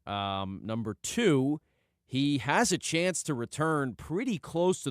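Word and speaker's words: Etienne: he can be in conjunction with uh Travis Echan, right?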